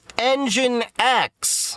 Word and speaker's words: Nginx: It's Engine X. Pi-hole as my DNS. So, first off, you're going to want to go ahead and go to Nginx RIGHT HERE. ENGINE X.